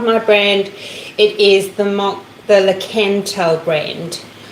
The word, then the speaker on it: Lakanto: But if you want to check out my brand, it is the Lakanto brand. Well, I said Lakanto. I'm just over pronouncing the la in case it didn't come out on the microphone.